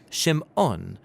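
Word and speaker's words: שמעון: and she names him Simon or in Hebrew shim ohn because she says the Lord has some odd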